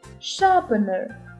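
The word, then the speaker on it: sharpener: ще дві цікавинки shapener перші літери S і H коли стоять разом читаються як звук ш She вона shelff полиця і друга цікавинка a і R разом звучать до довгим звуком А тепер діти відгадайте яке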